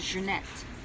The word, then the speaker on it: Janette: my first name is junette is is junette in in English but the way you pronounce my name in French Janette okay Janette is